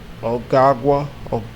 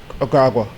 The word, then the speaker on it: Ogagwa: Ogagwa. That's how I pronounce it. O, and then the G-A, then the W. Ogagwa.